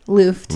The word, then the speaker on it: Luft: which is, my last name is Luft, which is kind of like weird. So that's how you say it. Luft.